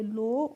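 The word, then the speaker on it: low: एल ओ डब्लू तो एल ओ डब्लू को हम पढ़ेंगे लो और लो का मतलब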